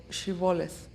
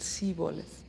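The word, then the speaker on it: shibboleth: were crossing the river they would request to pronounce the word shivoleth they could not pronounce it like that and they pronounced it siboleth at that point the bible described a huge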